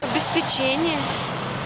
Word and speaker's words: обеспечение: настроения Сегодня ударный тренинг обеспечение дальше жалюзи и каталог обеспечение жалюзи каталог обеспечение жалюзи каталог запоминаем правильное ударение обеспечение как глаголе обеспечить на е жалюзи это французское